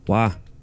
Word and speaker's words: voy a: example is the pronunciation of Voy a. meaning I'm going to as Wa. Wa. No. Boya becomes wa.